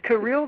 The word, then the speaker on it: Kirill: And is Kirill the correct pronunciation of your first name?